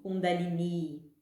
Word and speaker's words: Kundalini: O termo é feminino, deve ser sempre acentuado e com pronúncia longa no final. Kundalini.